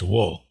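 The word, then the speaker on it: 我: ga uh this character which he would pronounce as wo something like wo is how it's pronounced in Mandarin Chinese as true self um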